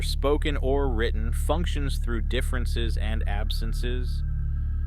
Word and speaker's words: différance: This leads us to Dareda's most famous and difficult concept, difference. Note that I pronounce it the same, but he writes it with the letter A instead of an E.